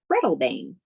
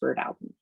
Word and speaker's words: Breadalbane: Most people, if you're not from PEI, you'll call that Breadalbane, but it's actually pronounced Birdalbin.